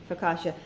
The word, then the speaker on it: Focaccia: yep that's unbelievable okay Coco said how to pronounce that amazing Focaccia Focaccia and Sherry I don't know if Sherry you